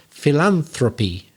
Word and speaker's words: philanthropy: noun for the activity which is philanthropy it's again back on the second syllable so if you are